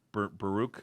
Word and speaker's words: Baruch: up there um we talked about Bernard Bernard Baruch is that you say his name yes uh